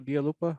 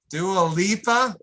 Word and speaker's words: Dua Lipa: Was this the Delupa Dialupa? Why can't I never pronounce her name right? Dua Lipa.